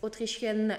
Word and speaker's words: autrichienne: То есть autrichienne N произносим, а autrichien мужской род, там N носовой на конце, рот не закрывайте.